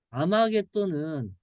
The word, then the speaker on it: 아마겟돈: 이 아마겟돈은 무기또의 헬라식 발음이에요.